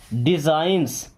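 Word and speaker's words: designs: डिजाइंस, D science ने डिजाइंस क्या पढ़ेंगे, डिजाइंस, यहाँ पे जी साइलेंट है, ओके।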